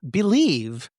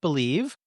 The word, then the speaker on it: Bleav: Believe, spelled BLEAV, pronounced Believe.